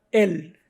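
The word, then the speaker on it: אל: dios y el nombre común en hebreo se pronuncia él este aparece en la biblia unos doscientos cuarenta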